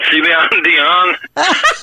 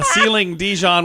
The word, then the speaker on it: Celine Dion: Did you know that Celine Dion, is that her name? Celine Dion. I was pretty close, wasn't I? Yeah, Ceiling Dijon was also very close.